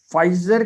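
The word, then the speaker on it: Pfizer: एक फाइजर company और BioNTech, ये इन दोनों ने मिलकर एक वैक्सीन बनाई है। ये आप देख लीजिए, यहाँ पे लिखा हुआ है वैक्सीन कोविड-19 फाइजर, ये पी साइलेंट होता है, फाइजर बायोनटेक।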